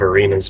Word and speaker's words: Arena: given the state of Arena's blood I'm pretty sure it's arena you guys are saying it wrong it was more than